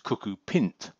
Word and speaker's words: cuckoopint: it should be pronounced cucko pint after pintle an old term for penis for a lot more